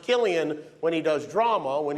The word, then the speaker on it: Cillian: Interesting fact about his name, it's pronounced Killian when he does drama.